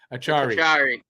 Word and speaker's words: Acciari: Achari.